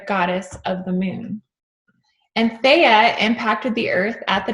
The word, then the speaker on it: Theia: So Theia, T-H-E-I-A, or Theia, is probably how you say it, Theia, was the original name of a Mars-sized planet And Theia means the mother of Selene.